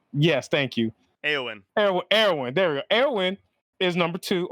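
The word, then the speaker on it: Éowyn: her name i'm not gonna butcher this just pronounce her name for me eowin yes thank you aoen erwin there erwin is number two on this list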